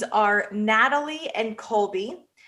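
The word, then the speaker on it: Nathalie: So the couple's names are Natalie and Colby. Natalie is spelled with a N A T H A L I E.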